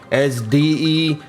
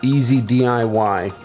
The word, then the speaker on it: EZ-DIY: how to pronounce that is it as de as de as Daei and then I realized it's oh it's it's easy DIY well I spent a